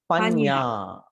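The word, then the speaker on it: paññā: panya.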